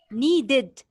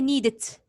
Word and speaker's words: needed: yes here you are if you have a verb that ends with d or t you pronounce it needed okay needed okay if